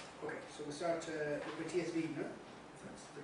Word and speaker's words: Matias Viegener: Okay, so we'll start with Matias Viegener. That's the correct pronunciation.